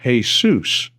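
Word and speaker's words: Jesús: In Spanish, the name is pronounced Jesus. A different syllable is accented and the J is pronounced like an H, just like every other word in Spanish that begins with J.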